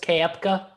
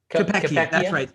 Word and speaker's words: Koepka: So you're Talon Snyder here with Brooks Koepka. Yep. Or however you say his name. Koepka.